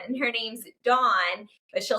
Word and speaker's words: Dawn: But how do you say her name? It's really Dawn.